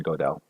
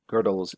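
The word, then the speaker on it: Gödel: i keep on saying godel it's actually pronounced girdle and i know that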